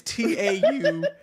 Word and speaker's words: Taurean: It's Taurean. What kind of fuck ass name? I thought it was Torian, like Dorian, but no, it's Torian. Like this motherfucker. Like Taurus, Torian.